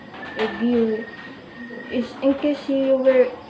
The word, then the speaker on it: GUI: The acronym is pronounced GU, GUI.